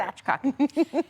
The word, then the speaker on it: spatchcocking: Spatchcocking. You're gonna say them, both of those syllables together.